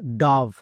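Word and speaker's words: dove: silent তাহলে এর উচ্চারণ ডব হবে না অনেকেই ভুল করছো আজকের পর থেকে আর ভুল করবা না ওকে তাহলে এর উচ্চারণ কি হবে ডাভ ও এর পরে ভি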